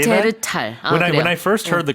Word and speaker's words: 네안데르탈: 네, 발음이 Because the only reason I say that, 네안데르탈. when I first heard the Korean pronunciation, Yeah.